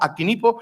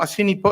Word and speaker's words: Acinipo: acinipo se puede pronunciar hay una doble pronunciación siempre si pronunciamos acinipo estamos pronunciando latín clásico Y si pronunciamos asipo estamos pronunciando ya latín